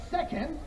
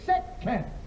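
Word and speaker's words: せっけん: So it's not second, which is what I was saying, it's sekken.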